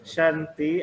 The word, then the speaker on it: Shanti: Oh, ini bacanya harus Shan ya. Kan pakai short. SH. Bu Santi itu pakai short. Yes, Shanti, I agree with you.